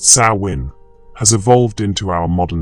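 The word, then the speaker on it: Samhain: This ancient Celtic festival pronounced sawin has evolved into our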